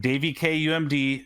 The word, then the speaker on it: daviekumd: be twitter um it's it's at daveykumd d-a-v-i-e-k-u-m-d pronounced davy k umd there is no other way to pronounce that